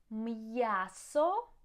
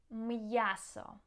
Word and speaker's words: м'ясо: М'ясо, meat. М'ясо.